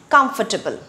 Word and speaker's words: comfortable: Comfortable. Comfortable. It is not comfortable. It is not comfortable. It is comfortable.